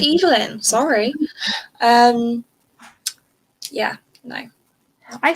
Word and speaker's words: Evelyn: have i have read seven deaths of uh evelyn castle and i did not that's how i pronounced it in the audiobook it's pronounced evelyn sorry um yeah no i still like this